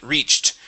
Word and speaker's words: reached: the end of reach so this should be reached reached the stone steps reached reach the stone steps okay give me a t ending at the end there so reached reached there you go that's